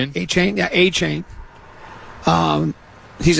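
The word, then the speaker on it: Achane: A chain.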